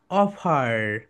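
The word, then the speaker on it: offer: Okay my dear soldiers, এটা দুইটা pronunciation আছে, বলো। অফা, অফা, অ, অ, ফা, অফা, অফা। এটা হচ্ছে ব্রিটিশ সাউন্ড, ওকে। ব্রিটিশ সাউন্ড কি বলতো? অফা। অ্যান্ড আমেরিকান সাউন্ড হচ্ছে অফার, অফার। কারণ ব্রিটিশটা আর এর উচ্চারণ কোথাও করে কোথাও করে না, কিন্তু আমেরিকানরা সব জায়গাতেই আর এর উচ্চারণ করে।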